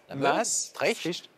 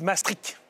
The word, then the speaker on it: Maastricht: Maastricht. D'accord, le détroit de la Meuse. Pour la prononciation à nos amis néerlandophones. D'accord. Et les anti-européens disent Maastricht, comme trick, coup de trick.